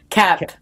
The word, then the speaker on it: Koepp: Cap. The O is silent.